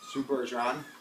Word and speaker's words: Sue Bergeron: Actually, Pink and I are here with a very special friend, Sue Bergeron. Pronouncing it right, correct? Yes.